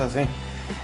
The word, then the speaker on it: un: El artículo indefinido, si tú quieres decir uno, se escribe así, UN, uno, pero se pronuncia A. Es como si tú como a ti te dicen algo que tú no escuchas y tú dices, ¿ah? Así más o menos, es un sonido nasal.